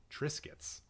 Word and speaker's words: Triscuits: It's biscuits, but with tra in the beginning. Triscuits.